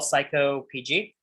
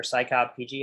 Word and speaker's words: psycopg: now we're gonna install psycho pg or cycobpg however you want to pronounce it this is what we